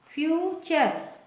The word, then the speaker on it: future: FUTURE, इसका pronunciation क्या होगा, फ्यूचर।